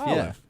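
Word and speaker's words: Olyve: Is it PR is it spelled like the food? Olive. O L Y V E. Yeah, I would assume that's Olive. Olive.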